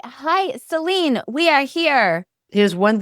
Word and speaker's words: Selene: Well, in Italian, it's Selene. It's really easy to pronounce because every syllable is pronounced.